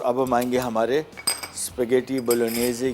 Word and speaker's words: Bolognese: बोलोनेज़े, बोलोनिया एक जगह है इटली में, और स्पेलिंग BOLOGNESE है, ठीक है ना, तो जी साइलेंट है इसमें, कोई मसला नहीं। बोलोगनेज़े भी बोल देंगे, बोलोगनेज़ बोल दें, हमारी ज़बान नहीं है भाई, हमें जो समझ में आएगा हम वो बोलेंगे। ओरिजिनल वैसे इसका प्रोनाउंसिएशन बोलोनेज़े है, ठीक है।